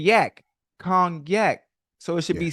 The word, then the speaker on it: Cognac: You said kgnac, but it's spelled c o g n a. Why not a y? Cuz you saying yak. Kong yak.